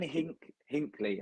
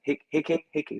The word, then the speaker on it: Hickey: Moving on from that news, so Aaron Hinkley, I think his name, Hickey, not Hinkley.